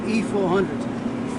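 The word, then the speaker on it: I-400: The the new submarine was going to be the I400 class I in Japanese are pronounced E. So the Japanese call them E400s.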